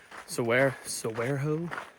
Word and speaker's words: Saguaro: Say the G is supposed to be pronounced like an H because it's a Mexican word or Spanish word, but I don't know. Saguaro, whatever.